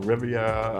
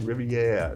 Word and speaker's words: Riviera: to help me pronounce I was saying that domain Del Rivia or it's domain Del Riviera like Riviera it was French name okay here's to you